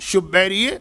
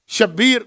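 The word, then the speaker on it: شبير: में एक आगा मूसा शुबेरी जनजानी यह लज जो हमारे यहां शब्बीर इस्तेमाल होता है इसका असल प्रोनाउंस तो आपको पता है अरब दुनिया में शु बैर और बहुत अजीम मर्ज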